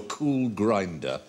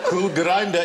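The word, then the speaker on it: Kulgrinda: go here's a question if you follow a cool grinder where will it get you oh oh oh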